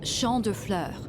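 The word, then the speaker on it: Champs de Fleurs: just like I imagined Champs de floors how do you say that it's Shand FL it means fields of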